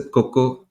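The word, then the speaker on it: Cocoa: have pronounced it correct or how you guys pronounce it yeah it's fine so it's a Coco and a Coco touch so Coco is made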